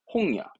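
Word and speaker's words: 本屋: 홍야.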